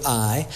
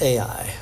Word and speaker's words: Ai: The story moves from Jericho to Ai. I guess maybe I learned it as Ai, but I guess the Hebrew pronunciation.